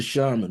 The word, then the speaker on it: shaman: to seek out the shaman. And who is the shaman, or sometimes pronounced shaman?